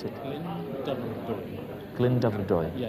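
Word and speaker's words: Glyndyfrdwy: Glyndebrydwy. Yeah, if you do it in two sections, Glyndebrydwy.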